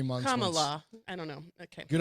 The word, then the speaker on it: Kamala: Kamala. Correct. Kamala, right? Kamala? Kamala. I think Kamala? it says Kamala. So KAHMAHLAH is how they have it broken down by syllables.